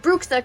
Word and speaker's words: bruxa: to with your explain to me that's not pronounced bruxa can suck a because yes